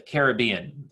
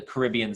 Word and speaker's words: Caribbean: Caribbean Sea or the Caribbean those are both ways of pronouncing that word I call it the Caribbean Sea but I definitely